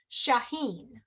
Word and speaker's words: Shaheen: Shaheen.